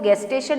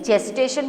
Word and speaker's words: gestation: देखो इसका स्पेलिंग जी से स्टार्ट होता है, मगर फिर से मैं रिपीट कर रही हूँ कि इसको गेस्टेशन नहीं जेस्टेशन बोला जाता है। while pronunciating it you have to use j, not g.